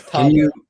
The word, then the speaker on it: Tadej: No, this is Tadej. Can you spell that?